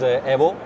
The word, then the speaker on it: Evo: new thing uh the the current pronounce is Evo because we want to keep the Italian pronounce and Italian Evo Italian